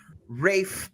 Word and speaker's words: Ralph: Ray then I look it up and he pronounces it Rafe so in case everybody sees Ralph out there it's pronounced Ray fines just for